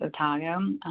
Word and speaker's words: Otago: Otago, some people pronounce it Otago.